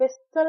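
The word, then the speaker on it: whistle: ई एल ई विसल यहां पे T silent है। हम जब प्रोनाउंस करते हैं तो विसल नहीं कहते हम कहते हैं विसल कोब्ब यहां पे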